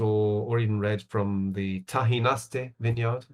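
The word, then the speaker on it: Tajinaste: So I could recommend any kind of white or or even red from the Tahinaste vineyard. The Tahinaste which is spelled Tajinasti, the El Marquez.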